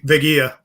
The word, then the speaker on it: Veguilla: the last name the vegia vegia yeah it's like quesadilla nice yeah well uh